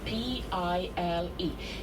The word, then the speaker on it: Pile: So, our bus is going to stop at the so-called Pil Gate. P I L E. You can pronounce it pile.